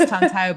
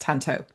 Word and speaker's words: Tantau: I thought it was Tantau, but that's interesting that it's actually pronounced Tanto.